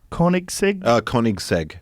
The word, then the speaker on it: Koenigsegg: Koenigsegg?